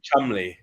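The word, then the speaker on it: Cholmondeley: my time and it's SP St John but pronounced but it's like John is a great American over here CH chandley is Chumley yeah and and Bo Bo champ is beum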